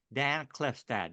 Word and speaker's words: Klefstad: and M to have as my guest today Dan clefstad did I pronounce that right Dan yes sir all right